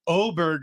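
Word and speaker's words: Åberg: my son was like why is his name pronounced oberg if it's if it's spelled Aber Berg and I'm like because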